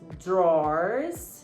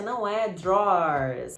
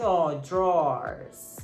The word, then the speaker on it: drawers: Você vê drawers, que aliás, também de volta aqui comigo, ó. A pronúncia não é drawers, é uma sílaba, não são duas sílabas, tá? Drawers. Tem som de O, drawers.